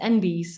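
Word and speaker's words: enby: lot of non-binary people refer to themselves as envies and then it's spelled e-n-b-y yeah um they continue gender non-conforming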